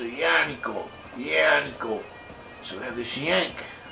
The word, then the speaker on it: Yaakov: have different Hebrew dialects, it may well be that in a Biblical Hebrew the word Yaakov or Jacob was actually pronounced something close to Yaakov.